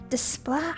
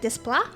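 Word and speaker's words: Desplat: And then you got Alexander Desla. I never can pronounce his last name. It's D E S P L A T. So it's like display. I'm not sure.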